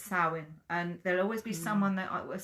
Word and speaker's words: Samhain: For me, it's Samhain, and there'll always be someone that I will say I'm not saying it right, but get over it, because I say it like Samhain.